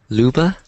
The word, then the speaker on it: Luba: Leuba, is that how you pronounce it? Luba. Luba. Luba, okay.